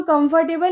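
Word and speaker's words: comfortable: इसको हम कंफर्टेबल नहीं बोलते। इसकी करेक्ट प्रोनंसिएशन होती है कंफर्टेबल। कंफर्टेबल कंफर्टेबल जिसका मतलब होता है आरामदायक। इसमें आर साइलेंट होता है कंफर्टेबल।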